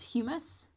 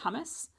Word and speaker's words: humus: Uh, the O horizon is uh also known as humis. I've also heard this pronounced hummus. Um, it is not the same stuff that you would be eating. Um, that hummus is actually spelled differently.